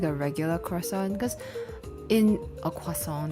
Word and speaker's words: croissant: Is it like a regular croissant? Cuz in a quason depending on how you pronounce it, the French way.